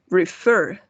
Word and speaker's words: refer: For example, el verbo referir, refer. No decimos refer, ¿no? El golpe de voz va en la última sílaba.